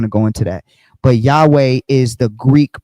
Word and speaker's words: Yahweh: Strong scholars uh consensus for pronunciation close to Yahweh. So a more broader pronunciation that is actually accepted among modern scholars would be Yahweh. All right? Everybody would typically accept the word Yahweh.